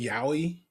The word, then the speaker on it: yaoi: You all familiar with yaoi? Oh, yeah. So that the fact that Nat's the one person that's like, no. Who? Wait, it's gay. You know what yaoi is, Matt? It's not even, is yaoi gay?